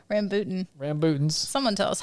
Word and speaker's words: rambutan: We had Rambuchis. Is that how you say it? No, Rambutan.